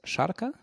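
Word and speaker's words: šarka: So the last one is sharka, and if you so that's the more strongly pronounced as sh, and the achu, the last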